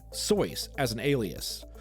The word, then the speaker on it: Seuss: Undeterred, he decided to use his middle name, Seuss, as an alias, only changing the pronunciation to the anglicized Seuss.